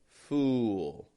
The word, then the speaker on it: fool: But for now, keep in mind, full, no lip movement, fool. Has a bit of a lip movement.